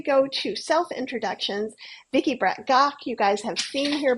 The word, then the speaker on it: Brett-Gach: and before we go to self introductions Vicky Bret gaw you guys have seen here before and I